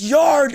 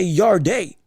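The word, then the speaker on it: Yarde: I don't Lord I almost want to say Yard day every time um I see it but I I know it's pronounced Anthony Yard.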